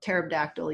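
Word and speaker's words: pterodactyl: why can't you hear terab dactyl use the bathroom because the p is silent um so yeah so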